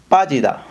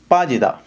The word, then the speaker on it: 빠지다: இந்த பாஜிதா அப்படின்னு சொல்லி வாசிச்சிங்கன்னு சொன்னால் அது பிழை. இது வந்து சங் பியூப் அப்படின்னு சொல்கிறதான 2 பானா சேர்த்து எழுதுன ஒரு எழுத்து. அப்போ இதை வந்து நீங்கள் பாஜிதா அப்படி தான் நீங்கள் உச்சரிக்கணும். கொஞ்சம் ஒரு சின்ன ஸ்ட்ரெங்த் ஒன்று நீங்கள் கொடுத்து பாஜிதா அப்படி சொல்லி உச்சரிக்கணும்.